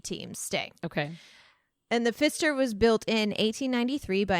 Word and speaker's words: Pfister: Because it's called the Pfister. Yeah. It's spelled P-F-I-S-T. Okay, so not a fist. Right. But still, it's an interesting name. Yeah. The Pfister was built, so it's